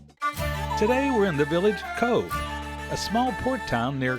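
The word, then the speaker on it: Cobh: You pronounce it Cove. Pronounce Cove.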